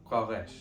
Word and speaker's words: qaresh: It's another preposition, and it's pronounced qaresh. Qaresh. This is a very good example of the way that vowels change consonants in Sylvan, and this is something that was inspired by Irish.